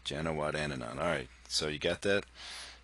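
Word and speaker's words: Janewattananond: It's 6 syllables, that last name, so you could say, if you break it up, it's Janawat, and then and on. Janawatananan.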